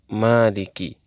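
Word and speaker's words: مالك: orang yang membaca al-quran membaca Maliki yaumiddin dengan meniadakan Alif setelah huruf mim sementara sebagian qura lainnya membacanya dengan menggunakan Alif setelah mim sehingga menjadi Maliki kedua bacaan itu adalah benar dan Mutawatir dalam qiraat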